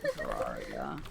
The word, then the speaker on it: Terraria: Pronounce as you want. I really don't care. RA is raw. Like rah. Terraria. Terraria.